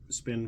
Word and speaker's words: SPN: channel this guy s spin Firearms I think he calls it but it's spelled SPN Firearms uh great everyday carry